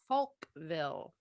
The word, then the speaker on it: Falkville: Tricky name there. You got to be careful how you say it. That's Folkville, Alabama.